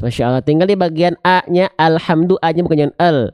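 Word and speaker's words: الحمد: alhamdulillahiabbilamin bagus bagus Masyaallah tinggal di bagian a-nya alhamdu Anya bukan Al J alham ya tapi alhamdu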